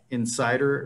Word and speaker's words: inSSIDER: I use an app called Insider, or INSSIDER, Insider, or NSSIDER, it depends on how you want to pronounce it.